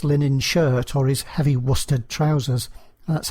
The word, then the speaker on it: Worcester: about somebody's course linen shirt or is heavy Worcester trousers that's how you pronounce it by the way from I transatlantic